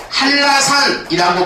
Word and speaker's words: 한라산: 리에서 자음과 자음이 부딪히지 그래서 발음이 어떻게 되는 거냐면 한라산이라고 발음이 되는 겁니다 이렇게 됐을 때는 뒤에